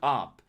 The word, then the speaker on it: up: Think go up or look up. The u here is a short uh sound like in butter.